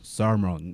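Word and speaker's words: Solomon: 첫 번째, 선생님은 솔로몬 그러는데 집사님은 솔로몬이라고 하는데 여기 있는 원어민 아저씨는 살몬 이렇게 나가거든요. 또는 살몬 로 발음이 확 죽죠.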